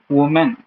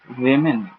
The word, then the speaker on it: women: In the second word, most of the people may pronounce it as woman. It is not woman, it is women.